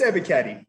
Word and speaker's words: Ebiketie: I think it's Ebiketie.